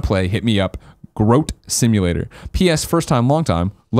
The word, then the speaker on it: Groat Simulator: Like goat, he says it's pronounced Goat Simulator with an R. So GR. There you go. Groat Simulator says, I shouldn't have to say this, but 9 times out of 10, people pronounce it like grout.